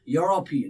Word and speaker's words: European: this he is now do you say european if you're saying european that's wrong pronunciation european he's a he's european look at that yo the first initial here is yo right that's why he's ah european similarly one one more